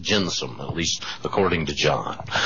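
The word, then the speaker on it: gentium: g n t i u m but it's pronounced jensome at least according to John that's the just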